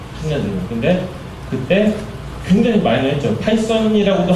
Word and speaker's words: 파이썬: 그때 굉장히 많이는 했죠 파이썬이라고도 하지도 않는 피톤 외국인들은 파이썬이라고 발음을 했었는데 그때도 이제 뭐 한국